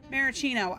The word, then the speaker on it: maraschino: Maraschino. I get it. They're maraschino cherries. I was mispronouncing this.